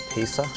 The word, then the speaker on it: Pisa: All right, famous city in Italy, but it's actually not spelt the way it's pronounced. Rhymes with peace or something like that. Pisa.